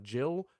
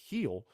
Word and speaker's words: Gil: was coming into this one or how to pronounce his name, it looks like Gil, it looks like Jill, but apparently it's Gil.